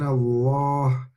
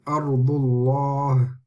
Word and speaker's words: Allah: fatwa or a bomber then the Lamb of Allah will be pronounced heavy so let's look at these examples me know why he mean Allah me now are you can hear the lamb is pronounced heavy it's not like laughs that's different I mean Allah and Allah Allah so you can see that the Lamb of Allah is heavy in these examples were very very easy